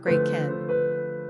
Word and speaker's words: Gretchen: In any case, today, the name Gretchen is largely considered old-fashioned and outdated in Germany, where, by the way, it's pronounced Gretchen.